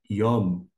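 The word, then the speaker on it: יוֹם: então ficaria uma transliteração você pode colocar I om yom o som desse Y é equivalente a nosso I yom só para que você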